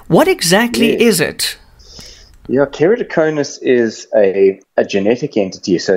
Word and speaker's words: Keratoconus: It's called Keratoconus. Dr. Dylan, how's it? Hey, Eon, you pronounced that perfectly.